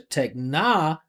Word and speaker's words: technology: That is a secondary stress. Tech uh actually it's unstressed. Technology G, right? Techn secondary stress. Techna. But because of secondary stress, you got to hear the vowel sound.